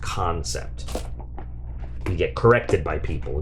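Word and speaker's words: Kansept: so let's see but if you didn't know can sept is pronounced concept we get corrected by people if you say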